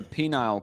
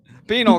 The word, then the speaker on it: penal: 9 years, and they moved her to a penile colony. What? What's it called? How do you pronounce it? I don't know how to pronounce it. Penal colony. What I say? That's what I said. Penile.